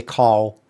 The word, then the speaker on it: Karl: To the people who speak properly, you'd pronounce it's Karl. So you'd pronounce it one of the two proper ways of pronouncing that, which is Carl, or Carl.